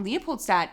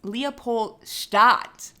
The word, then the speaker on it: Leopoldstadt: say the other day it's not Leopold stat it's Leopold Schott or leopoldstadt okay I'm gonna let you